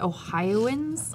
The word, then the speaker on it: Ohioans: oh hi Owen I how do you say that Ohioans oh it's almost like onions oh like yeah that's